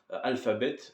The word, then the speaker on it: Alphabet: Alphabet, pour bien le prononcer. Merci Idriss Aberkan, je ne savais pas que ça se prononçait Alphabet. Donc Alpha pour Alpha, donc comme Alpha, Oméga, je ne sais plus